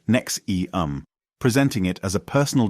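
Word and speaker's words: NXIVM: 1990s Keith rier co-founded enam pronounced NEX eum presenting it as a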